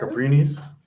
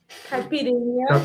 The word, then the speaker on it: caipirinha: Caprinis? Caipirinha. Caprinia?